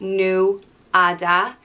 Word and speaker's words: Nuada: brother of dagda and it is pronounced new ada but the emphasis can either be on the nu nueda or on the ada nuada sometimes it can also